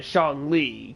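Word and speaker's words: Xiangling: like the closest all right it's actually pronounced uh sean lee crazy all right now we had to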